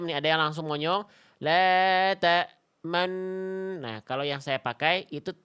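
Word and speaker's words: تأمنا: Asal kalimat ini tuh dibacanya la ta manuna. Nuna ada nu dan na. Digabung nu dan na-nya jadi enna. Jadi nu-nya dipakai isyarat bibir maju, namanya ismam.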